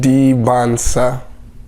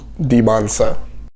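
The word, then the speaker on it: Dybantsa: Debonsa. Just forget the T's. They are silent. Debonsa.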